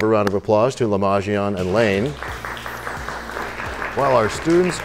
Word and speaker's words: Le'majion: Lamajian.